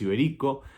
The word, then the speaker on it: Iberico: Y después termina siendo gol de Iberico, que lleva tilde en ahí, por eso es Iberico.